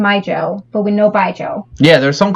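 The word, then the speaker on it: baijiu: me which reminds me by joe or baiju however you say it it's definitely not any it's by joe right yeah by joe but it's it's kind of like spelled like a jew but by joe is how you say i you yeah but that's a joke sound right joe it's mandarin so like they have opinion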